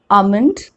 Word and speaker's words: almond: the rule first l is not pronounced when it comes after vowels a o and u let's look at some examples to understand this better so the words like calm bomb walk talk almond l is coming after